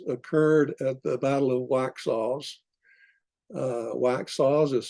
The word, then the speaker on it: Waxhaws: when the atrocities occurred at the Battle of waxhaws waxhaws is spelled w-a-x-h-a-w apostrophe s wax sauce uh the